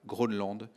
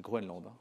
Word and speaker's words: Groenland: de nombreuses expéditions himalaya grenland prononce groënland c'est pas la même chose on va dire si